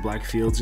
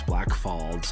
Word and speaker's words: Black Falls: black falls alberta yes i said black fields in the intro no it's black falls i just mispronounced it um so yeah basically